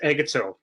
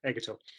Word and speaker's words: Egeto: you great thanks bro it's pronounced agato uh yeah you're close you're close hungarian name very unusual very uncommon um but yeah egato uh yeah so my